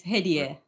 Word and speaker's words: Hedieh: So we have Hedieh. I hope I pronounced it correctly. You can correct me so that I'll pronounce it the right way. No, it's perfectly fine. Yes, it's Hedieh.